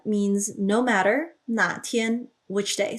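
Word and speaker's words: 哪天: So notice that 哪 is a third tone, and that is very important because if you say it with a fourth tone, 那天, then you're referring to a specific day.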